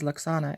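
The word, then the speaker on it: Lwaxana: I think that the W is silent then, right? Because I always heard it as Luxana in the show.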